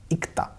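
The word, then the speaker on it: 읽다: यहाँ पर प्रोनाउंसिएशन इसका ल का साइलेंट होता है। ऐसे नॉर्मली अगर पढ़ेंगे इसको हम इस सिलेबल को तो हम इक पढ़ेंगे, इक्ता।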